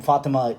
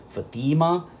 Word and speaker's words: Fatima: And the main difference is where the emphases are. You see, in the name in the Targum, the first syllable is short, while the second syllable is long, Fatima. And in the Islamic name, in that Muslim name, it's the reverse. The first syllable is long, while the second syllable is short, Fatima, right?